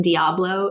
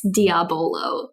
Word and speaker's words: Diabolo: He's not just mispronouncing Diablo, it's Diabolo.